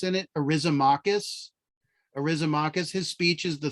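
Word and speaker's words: Eryximachus: His name is actually pronounced, and has an X in it, Arisomachus.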